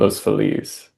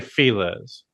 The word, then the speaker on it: Los Feliz: I don't even know the other the Spanish like if you were speaking Spanish, the correct pronunciation would be Los Feliz. But And we say Feliz.